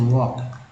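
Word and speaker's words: walk: देखिए लेस हो गया, और एल के में एल जो है साइलेंट है तो वॉक।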